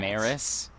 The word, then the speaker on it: Maris: Maris, like Paris.